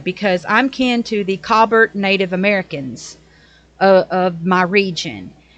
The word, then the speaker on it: Colbert: And then Stephen, I call him Colbert, even though people pronounce it Colbert. But actually, in my area, they call this last name Colbert.